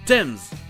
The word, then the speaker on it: Thames: Et enfin il existe des mots avec "th" où le "h" est juste muet comme par exemple du thym, "thyme" ou encore le fleuve connu sous le nom de la Tamise, "Thames".